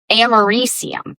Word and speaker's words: americium: So it is americium.